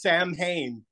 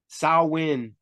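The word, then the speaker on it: Samhain: to say that word my whole life thinking it was Sam Hayne yeah I was like Sammy who Sammy you mean Sam that guy over there but uh now they're like oh it's Sal how do you say it salwin that win is that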